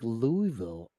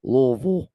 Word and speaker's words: Louisville: Louisville oh my God you made me say it wrong after I went through that whole spiel about saying lville you gotta say it you got you got to say it like you have a swollen tongue that's how it's supposed to work oh then dropping down